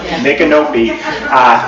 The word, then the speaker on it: Micanopy: Micanopy.